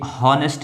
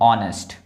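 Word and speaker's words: honest: ये हॉनेस्ट नहीं है। बहुत लोग इसको गलत प्रोनाउंस कर देते हैं। ये हॉनेस्ट नहीं है। ये है ऑनेस्ट। ऑनेस्ट है ये। ऑनेस्ट। ठीक है? ये ऑनेस्ट है।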